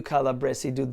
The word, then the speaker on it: calabresi: chorus goes all you calabresidu the Mambo like a crazy and the Italian word that we find here is calabresi now I say it with a voiced s and I might be